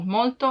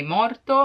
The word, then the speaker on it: molto: My tip is to use tanto because if you cannot pronounce molto in a perfect way, you may be misunderstood, and if you say morto, it means dead.